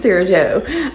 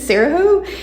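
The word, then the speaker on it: Sarajo: time for some reason I was pronouncing it like Spanish the J was an h i was pronouncing it saho in my head and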